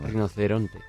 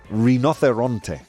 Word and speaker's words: rinoceronte: Rinocerante or orante? Come on, tell me the pronunciation. Rinoceronte. Rinoceronte. Okay.